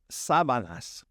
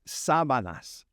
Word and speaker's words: sábanas: The sheets, you got to say that accent on the first A, las sábanas, las sábanas.